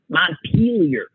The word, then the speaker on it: Montpelier: same France I mean my memory from learning the capitals when I was in grade school is that's Mount Montpelier like a good American pronunciation not peelier Vermont and she kept saying